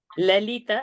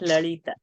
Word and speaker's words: Lalita: Kali and not Kali. Lalita and not Lalita.